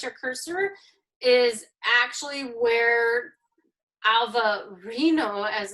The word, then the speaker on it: Alvarinho: Alvarinho, as they pronounce it there.